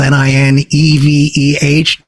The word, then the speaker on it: Nineveh: may remember Nineveh from the Bible the word is spelled n-i-n-e-v-e-h Nineveh a conflict over water and it was